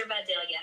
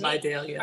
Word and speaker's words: Vidalia: These are Videlia onion cups, which I'm a Georgia native. Somebody said that it's actually pronounced, we call them Vidalia onions.